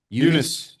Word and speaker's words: Yunus: Yunus.